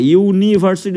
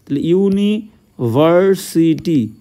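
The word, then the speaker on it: university: ইউ বা ওয়া হয় ইউনিভার্সিটি উচ্চারণ করতে গেলে দেখো ইউ হচ্ছে ইউ এর মত হচ্ছে ক্লিয়ার ইউনিভার্সিটি ওকে ইউনিক বলতে পারি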